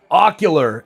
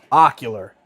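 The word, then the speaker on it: Okuliar: Ocular is how you say it, not ocular. Ocular. Like ocular goggles.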